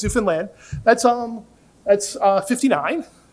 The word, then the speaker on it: Newfoundland: is that right everyone great Americans say Newfoundland it's Newfoundland that's um that's uh 59.